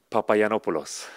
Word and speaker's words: Papagiannopoulos: is that famous last name how do you pronounce it papaya nopales that easy really really easy it's gonna be